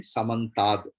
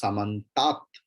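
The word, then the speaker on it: समन्तात्: But when it is together, then Samantad, the comes. If you split it, it is Samantat only, the.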